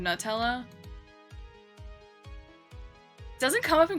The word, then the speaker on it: Nutella: You know, most Americans say Nutella instead of Nutella.